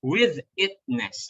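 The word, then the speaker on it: withitness: With itness, okay? Ang pronunciation nito is with itness.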